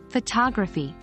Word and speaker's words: photography: instance in the word photography the second and fourth syllables are pronounced with a reduced uh sound as in futog Rafi